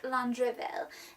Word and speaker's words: Landreville: So her family is French, and so that means that it should be pronounced more like Landreville.